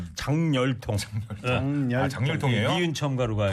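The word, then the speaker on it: 작열통: 그다음에 자결통이 아니고 장열통. 장열통이에요? 니은 첨가로 가야 돼. 통증이 진짜 장렬했네. 네, 그렇게 가야 이렇게 읽어야 돼. 장열통.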